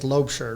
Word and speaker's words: Laubscher: Well, it can be pronounced either way. The correct way is Laubscher, like a Laubscher.